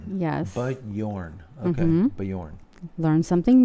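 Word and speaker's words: Björn: all right um Atomic Mt said uh FYI bijorn is pronounced Bjorn I think but Yorn yes but Yorn okay but Yorn learn something new appreciate that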